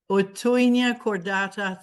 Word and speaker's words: Houttuynia cordata: Genevieve, do me the honor and pronounce the name, because I always get marveled. Otoinia cordata thun.